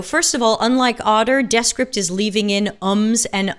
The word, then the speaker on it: Descript: i'm also trying out desk script which evidently is pronounced that way and they are using